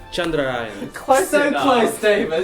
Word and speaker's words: Chandrayaan: Do you want me to offer the correct pronunciation? why not? It's Chandrayaan. Chandrayaan.